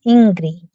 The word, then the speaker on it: Ingrid: Oh, in case you didn't know, that's how you actually pronounce my name, Ingrid. Ingrid. It's Okay. Ingrid in Spanish, but Ingrid will do just fine.